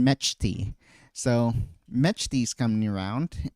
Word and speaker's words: Mechty: It took me a while to realize that you actually pronounce the ch in metchi.